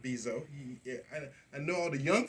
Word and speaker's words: Bezos: I say bozo, but Bezos.